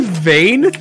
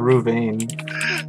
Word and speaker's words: Ravane: Did you say vein? No, I said Ravane.